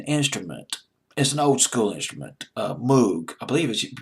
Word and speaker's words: Moog: he used an instrument as an old-school instrument Moog I believe is you pronounce the Mook I'll pronounces Moog it's pronounced as I think it smoked and German but it's Moog in English I'll pronounce this book em oo jeek Moog synthesiser